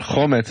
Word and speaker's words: chometz: Now, we've been talking the entire time about chametz, but chometz is a different word. First of all, chometz has the accent, the emphasis on the first syllable, whereas chametz has it on the second syllable.